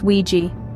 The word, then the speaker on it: WG: as locals call them wgs pronounced Ouiji regular apartments are your